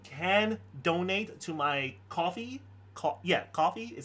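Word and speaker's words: Ko-fi: Coffee is how you pronounce it.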